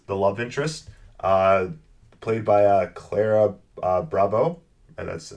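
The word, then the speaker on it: Ciara Bravo: So the person who plays Emily, the love interest, played by Clara Bravo. And that's how you say her name, Clara Bravo.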